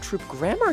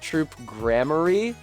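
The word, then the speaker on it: Troupe Gramarye: well I guess now we do know how it's supposed to be pronounced troop grammar okay troop grammar I'll say it like that thanks for the heads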